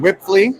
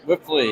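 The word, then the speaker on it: Wipfli: It's pronounced Whipley. Whipley, yep. Whipley, great.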